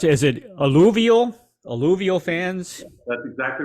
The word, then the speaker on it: alluvial: How do you pronounce it? Is it alluvial?